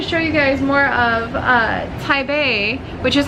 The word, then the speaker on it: Taipei: And I wanted to show you guys more of Taipei, which is how you pronounce it correctly, by the way. Taipei, not Taipei.